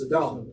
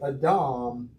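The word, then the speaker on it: אָדָם: Now, I know you thought his name was Adam, but it's not Adam, okay? It's Adam. In Hebrew, almost always the accent's on the last syllable, unless it's specified otherwise.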